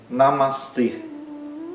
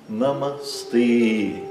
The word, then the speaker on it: Namastê: Ele é um E fechado, porque sempre o E em sânscrito é fechado. Então é Namastê e esse E é longo. Os 2 A são curtos. Namastê.